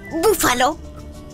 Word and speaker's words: búfalo: son brújula brújula o brócoli brócoli o también búfalo Búfalo también son muy fáciles a que sí